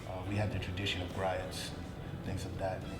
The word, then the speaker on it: griot: We have the tradition of griots and things of that, or some people pronounce it griots or whatever. It doesn't matter, it's all the same thing.